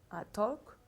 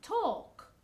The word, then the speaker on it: talk: Talk. Talk. Okay? And you don't pronounce the L. The L is silent. Talk.